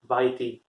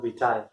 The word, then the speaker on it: vitae: Another common mistake which students make, they mispronounce it as YT. It's not YT, it's curriculum vitae.